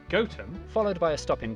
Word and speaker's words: Gotham: tower sester toaster then a quick jaunt to gotham goatum followed by a stop in kwonmore kwama before